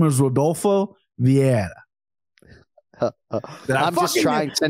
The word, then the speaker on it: Vieira: I'm going to try to abstain myself here because I believe his name is Rodolfo Vieira.